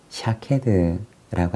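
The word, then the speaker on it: שָׁקֵד: 살구나무라고 하는 단어가 히브리어로 된 원어 성경에서는 샤케드라고 하는 단어를 사용합니다. 그리고 지켜보다라고 하는 말은 히브리어로 쇼케드라고 하는 단어를 사용합니다. 즉 살구나무라고 하는 말과 이 지켜 혹은 지켜보다라고 하는 이 두 말이 사실은 발음이 아주 유사한 단어입니다.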